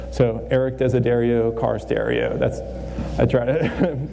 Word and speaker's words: Desiderio: But most of all, the most important thing here is my last name rhymes with car stereo. So Erik Desiderio, car stereo.